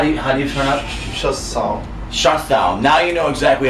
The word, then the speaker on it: Schossow: Schossow.